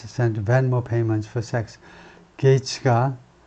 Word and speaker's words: Gaetz: 게이츠가 발음이요. 게츠가 아니고 게이츠라고 발음하는데 게이츠가 벤모 페이먼트를 섹스를 위해서 섹스 대금으로 벤모 페이먼트를 보냈다.